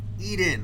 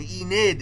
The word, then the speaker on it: Enid: Eden, okay. Eden, I don't think that's her name, is it? Is it? Enid. All right. See, I thought I was like Eden is a normal name. Enid is not.